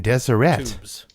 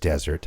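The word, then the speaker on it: Deseret: Most people um who aren't from here would say desert or desire.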